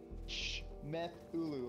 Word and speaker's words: Shmethulhu: It looks like Shmethulhu, like Cthulhu, but with a Shmeth in front of it.